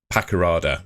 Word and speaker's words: Paqarada: who's from Kosovo and he's reported essentially that Bristol City are after layout layout Pakarada that's how you pronounce it so yeah looks like obviously Gard